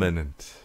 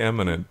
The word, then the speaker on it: imminent: I always say it wrong, right? You say eminent, but that's your northeastern kind of thing, so... Yeah. It's just that, eminent and imminent are completely different things.